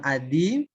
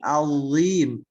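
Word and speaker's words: عظيم: Nah, itu bukan adim, tapi azim.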